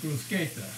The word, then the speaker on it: bruschetta: italian peasant food and the cornet pronunciation is brusqueta is something you get